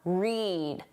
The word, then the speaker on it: read: When the pronunciation is that long sound, read e. That's for the infinitive to read or the base verb read. And when it's the short sound, the same sound as the color read, that's the past